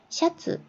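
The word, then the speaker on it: シャツ: 여기는 밑에서부터 시작하는 거 시였죠. 위에서부터 시작하는 거 수였죠. 그래서 샤츠, 입는 셔츠죠.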